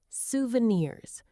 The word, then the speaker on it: souvenirs: Yes, souvenirs. It is originally a French word, so the pronunciation can be a little bit tricky for English learners. The emphasis is on the very last part of the word, suan.